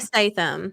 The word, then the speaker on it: Statham: Oh, Myra Statham. Statham, yeah. Like Jason Statham.